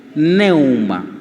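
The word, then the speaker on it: πνεῦμα: Neuma.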